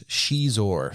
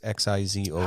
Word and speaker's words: Xizor: I don't remember what species he is, but the character's name is Prince Shizor, spelled with an X, Xizor.